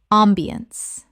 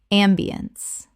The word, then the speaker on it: ambiance: ambiance Common mispronunciation. ambiance Correct pronunciation. ambiance Three syllables with the stress on the first. The ence collapses to uns.